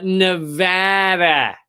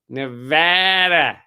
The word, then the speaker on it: Nevada: happened in Las Vegas recently Las Vegas uh Nevada Nevada you gota just remember when you show up